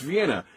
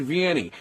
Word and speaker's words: Vienna: Pronounce Vienna, not Vienny.